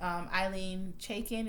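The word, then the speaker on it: Ilene Chaiken: Which I believe Eileen Chaikin is how you pronounce the name, the creator of the show.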